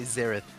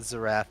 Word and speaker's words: Xerath: I would say Xerath, not Zerath. I think Zerath is a terrible way to pronounce it. I say Xerath, God damn it. not Zerath. Xerath. It's definitely Xerath.